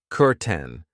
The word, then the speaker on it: curtain: I know it looks like curtain but we pronounce it curten.